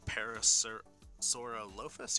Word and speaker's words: Parasaurolophus: Collection Jurassic Park The Lost World Parasaur, or Parasaurolophus? Yeah, Parasaurolophus. I hate pronouncing the whole long dinosaur name sometimes, but it's the Parasaur.